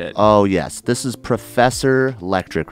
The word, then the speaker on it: Lektrique: should have told you my name's electric like trick electric oh yeah did